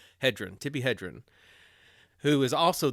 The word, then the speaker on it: Hedren: Hedren. Hedren.